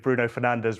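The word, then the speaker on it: Bruno Fernandes: Yeah, absolutely nice Portuguese pronunciation of Bruno Fernandez, by the way.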